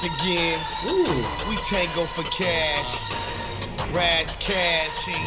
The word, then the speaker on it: Ras Kass: we tango for cash brass cash that's how you say his name but hold up man